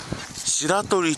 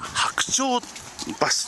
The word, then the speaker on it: 白鳥橋: 思うんですが白鳥と読みがちなんですが白鳥橋というですね名前なんですねそして左